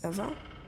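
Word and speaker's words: Ewa: Was your name Eva or? I think it was. Did you say your name was Eva?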